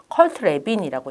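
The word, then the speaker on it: Kurt Lewin: 그 가장 대표적인 사람이 올포트와 위는 컬트레빈이라고 읽는데요.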